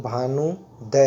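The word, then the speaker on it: भानूदय: Pronunciation समझिएगा साथियों, भानुदय है ना, भानुदय, ठीक है, डबल यू का मात्रा है।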